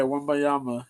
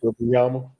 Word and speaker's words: Wembanyama: Yeah, Wembanyama. Yeah. Wembanyama.